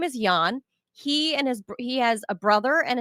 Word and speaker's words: Jahn: So I think his name's actually pronounced Jahn, Joshua Jahn.